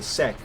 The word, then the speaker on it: Sek: Okay, just to clarify, to say Sek, S-E-K, Sek, is that the correct pronunciation of your current name?